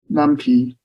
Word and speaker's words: NumPy: pilot actually including lumpy and macro live okay numpy the medical culture of example some people pronounce the new Peak okay whatever and it's